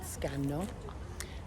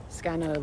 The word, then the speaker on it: Scanno: place called scano and it's important in Italian that you pronounce both of the ends unlike an English we would say scan like quickly if you want to sound Italian you've got to make sure you pronounce each one of the double letters separately anyway so the legend